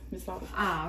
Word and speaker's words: мясорубка: Мясорубку. Мясо. Окей, надо говорить мясорубку. Нет, мясорубка. Окей. Это Просто ты знаешь, в русском языке не все гласные произносятся так, как они я пишутся.